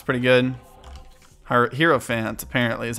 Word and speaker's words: Hierophant: mom fight okay uh hierophant it's pretty good hero fans apparently is how you pronounce it not not get anything in here